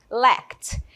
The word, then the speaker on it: lacked: Vejam comigo, lacked. Tem essa pronúncia aqui do final, vocês podem aprender repetindo aí comigo, tá bom?